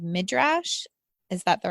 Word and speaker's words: midrash: What she talks about in there is, I believe it's called midrash. Is that the right pronunciation of midrash?